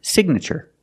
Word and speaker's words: signature: that is your signature with signature the GN is in the middle and we pronounce the G like a hard G sound so it's Sig nurture signature the I makes a short sound like this is Sig signature we need your